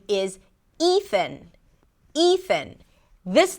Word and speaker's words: Ethan: Just make sure that you stick the tongue out for the th and you relax it so the air actually comes out as you pronounce the th. Ethan.